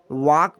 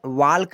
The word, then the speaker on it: walk: इसे हम वॉक पढ़ते हैं, वाल्क नहीं पढ़ते हैं। कुछ लोग इससे वाल्क पढ़ते हैं। वाल्क जो है गलत है, सही वाक है। जो एल है ये साइलेंट रहता है, क्या साइलेंट।